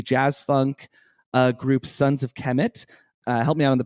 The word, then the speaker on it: Kemet: I've been reading it as Kermit this whole time. Oh, well, there's no R.